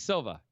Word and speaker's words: Silva: brazilian with marola and pablo silva sil silvia or silva sylvia sylvia okay i don't know it might be silva it's silva you said it right the first time there's the shove well